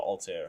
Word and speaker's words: Altair: it, so I'm just going to call it Altair, because Altair, I'm just like basing it off of the protagonist from Assassin's Creed 1.